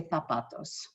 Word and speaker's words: zapatos: used to it so i pronounce my z's as a th for example the word zapatos as other teachers would say at lt i say tapatos the combination of c